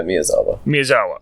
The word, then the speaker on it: Miyazawa: Yeah, Miyazawa.